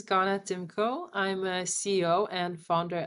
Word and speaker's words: Ganna Tymko: you my new guest ghana thimko is that is that the right pronunciation of your name yeah this is perfectly good my name is ghana timko i'm a ceo and